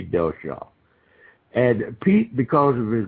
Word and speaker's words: Dellschau: Most people, when they look at Delshaw's, and then if anybody wants to go look at some of these drawings, it's spelled Dellschau.